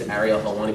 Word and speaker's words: Ariel Helwani: So when they ask me, I say it's Ariel Helwani, but no one can actually say it that way. So they say Ariel, Ariel.